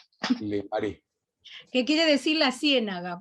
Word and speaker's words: Le Marais: Se dice Le Marais. Le Marais.